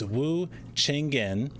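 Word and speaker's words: Wu Cheng'en: don't mispronounce this I was already going to mispronounce it it's Wu chenin and uh yeah he was writing about events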